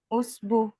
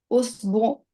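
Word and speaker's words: أسبوع: हफ्ते को कहते हैं उस उसबु। ठीक है सर। मैं उसबु। सोच रहा हूँ, सोच रहा हूँ। जरा बताओ, हिरा बताओ, सर हिरा बताओ क्या है। अम, उसबु, उसबु आखिर में आइन आता है ना।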